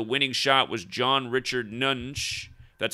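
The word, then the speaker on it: Nunge: who had the winning shot was john richard nunch that's how you say his name he goes by jack nunch but notice he's 23 years old in his full name 83.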